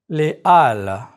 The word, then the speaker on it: halles: Again, you don't pronounce the H sound like in English.